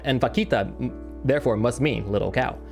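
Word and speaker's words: vaquita: If you want to say it like with the Spanish um like Latin accent, it's a it's actually well actually it's pronounced vakita, you know.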